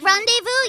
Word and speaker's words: rendezvous: Yeah, I've heard people mess up on Rendezvous too because they've never seen it written and pronounced at the same time. They know the word rendezvous, but they also think that there's like a rendezvous or something.